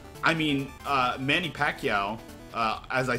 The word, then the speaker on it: Pacquiao: How do you properly pronounce his name? Pacquiao.